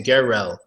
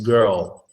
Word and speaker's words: girl: word safety one girl they probably say gorrell gorrell but it's just a girl girl Oh your tongue is